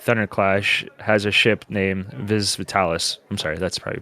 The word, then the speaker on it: Vis Vitalis: It was later revealed that famed Autobot Thunderclash has a ship named Vis Vitalis. I'm sorry, that's probably pronounced it, Vis Vitalis.